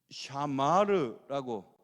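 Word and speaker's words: שָׁמַר: 그런데 이 동사는 히브리 동사 이 삼지창 같이 생긴 게 이게 앞에 붙으면 S 발음이 나고 붙점이 뒤에 붙으면 SH 발음이 나거든요. 쉬 발음이 나요. 그래서 샤마르라고 M자 같이 생각하는 것은 미음자 발음 내서 이건 발음이 샤마르라고 하는 단어가 쓰이거든요. 이 단어 해석이 이 샤마르가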